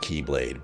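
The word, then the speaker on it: χ-blade: let's let's make it even more confusing it's pronounced Keyblade but it's spelled an X that's italics -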